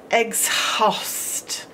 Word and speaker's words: exhaust: right here there's a silent h in exhaust X else so we have to remember by heart there is a silent h squeezed in between the X and the all if you wanted to